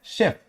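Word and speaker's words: chef: नहीं, उनको हम बोलते हैं शेफ। क्या बोलते हैं? शेफ। तो सॉरी, सिंगल एफ रहेगा, शेफ बोलते हैं। तो यहां पे ये जो CH ये क्या है? शॉ का प्रोनाउंसिएशन दे रहा है।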